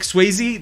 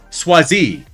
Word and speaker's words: Swayze: then what they said Patrick Swayze they said Patrick swazi and we're like oh no no no no no we can't